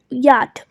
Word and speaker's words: yacht: We just have to skip the CH that is silent over here and pronounce it as yacht or yachting.